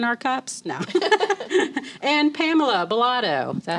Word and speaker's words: Bolado: just water in our cups now and Pamela belotto is that how you say your last name